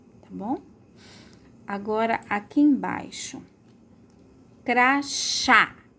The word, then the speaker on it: crachá: Agora, aqui embaixo, crachá. Qual a sílaba mais forte? Crachá. É o chá, né? E é bem aberto, ó, chá. Então, acento agudo. Agudo porque é bem aberto, tá bom?